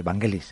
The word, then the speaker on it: Vangelis: griego, y pues acabamos con la música de Vangelis, así lo tenemos que pronunciar, ¿no, uh-huh, Alex?